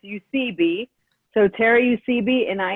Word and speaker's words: Eusebi: It's Eusebi.